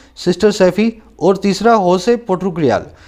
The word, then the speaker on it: Jose: कह रहे 2007 के अंदर ये कुटूर नाम का आदमी है ना, सिस्टर सैफी, और तीसरा होसे पुथरुकयाल, ये जोसे को होसे बोलते हैं, इसमें जे साइलेंट होता है ना।